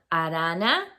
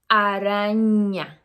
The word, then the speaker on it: araña: are not aware that the N with the little line on top, la tilde, has a different sound.